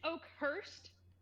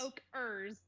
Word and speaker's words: Oakhurst: hard of a journey oh it's Oak Hurst I thought it was Oak her no I've been pronouncing it wrong this entire time all right as we